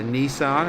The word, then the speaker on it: Nissan: He's currently sitting P2 in the AM Championship division in the Nissan, or the Nissan as it's pronounced in America.